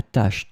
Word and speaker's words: tache: In this lesson, we will see together two words that are written differently but pronounced the same way. Tâche, tâche. So let's start with the first one, tâche. Elle a réussi à enlever la tache tenace de son chemisier blanc.